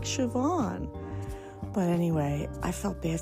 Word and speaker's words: Siobhan: name you know but SI o b h an is pronounced Siobhan just so you know